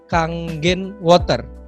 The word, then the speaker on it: Kangen Water: Dan kalau teman-teman mungkin bisa lihat juga produknya itu namanya adalah kalau ditulisnya itu adalah Kangen Water, tapi bacanya adalah Kangen Water ya.